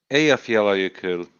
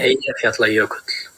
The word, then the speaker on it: Eyjafjallajökull: Eyjafjalla Jökull.